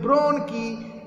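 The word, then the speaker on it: bronchi: सो the trachea ब्रांचेस out into two ब्रोंकी, ये जो word है इसका प्रोनाउंसिएशन है ब्रोंकी, each leading into a lung.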